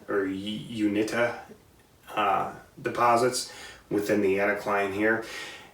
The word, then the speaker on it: Uinta: And we go out west to Wyoming, Utah area, and we have I believe it's pronounced Uinta or Uinta deposits within the anticline here.